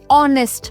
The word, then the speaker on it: honest: an honest man. This is honest. So H is silent.